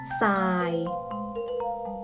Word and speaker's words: ทราย: แท้ พยัญชนะ ทอน ทหาร ควบ กับ รอ เรือ อ่าน ออก เสียง เป็น เสียง ซอ เช่น คำ ว่า ซาย ก็ อ่าน ว่า ทราย พุทรา อ่าน ว่า พุทรา